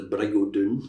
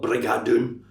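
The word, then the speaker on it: Brig o' Doon: There's a bridge across the river Dune, which we'd call in Scots the Brigodun, not Brigadun. That's Hollywood Brigodun.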